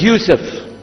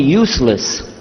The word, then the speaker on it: Yusuf: My name is Yusuf. Can you say Yusuf? Let me say Yusuf. Yeah, very good. I wish you'd teach my wife. She keeps mispronouncing it. She calls me useless.